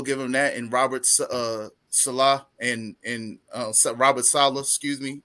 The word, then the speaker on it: Saleh: I keep can't getting pronounce his last Salah. It's Salah.